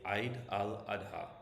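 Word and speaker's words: Eid al-Adha: But you can anglicize it and say Eid al Adha, and people will understand what you're talking about.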